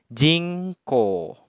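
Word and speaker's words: 人口: Sehingga kanji ini dibacanya jingko.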